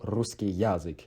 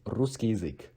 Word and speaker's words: русский язык: Russian language is русский язык, русский язык. Remember that because ya is de-stressed as e, so it's not русский язык, it's русский язык, русский язык. Do not pronounce ya as ya, because it is de-stressed.